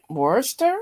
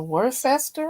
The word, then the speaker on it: Worcester: graduation to attend and uh I guess they pronounce it Worster or Worcester or something Worcester Worcester that's an hour and